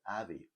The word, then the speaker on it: Aave: And then we're looking today at a crypto called Aave. Aave. Now, Aave is spelled for my audio and visually impaired viewers.